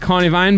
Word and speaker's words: Carnivine: I always say carvan, but it's a carnivine. But listen, pronunciation is up to the speaker.